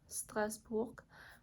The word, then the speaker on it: Strasbourg: the West Side you have places like Strasbourg Strasbourg that's how you pronounce it but it's actually on the border